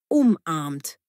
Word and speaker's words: umarmt: Sie umarmt ihre Freundin. Betonung umarmt. Sie hat ihre Freundin umarmt ohne Ge.